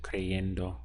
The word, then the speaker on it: cayendo: and like four syllables and again over time and usage constant usage it changed to cayendo which is again a lot easier to pronounce a lot smoother to say so this is the